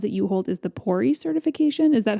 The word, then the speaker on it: PORI: And you mentioned certifications, and I know one of the ones that you hold is the PORI certification.